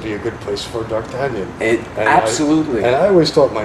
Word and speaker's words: D'Artagnan: How would you pronounce it? D'Artagnan. D'Artagnan.